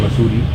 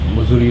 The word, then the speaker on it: Mussoorie: I was in Missouri, I don't say it properly, but near Dehradun, a place called Missouri. Masuri, but Missouri is also fine. It's called Masuri.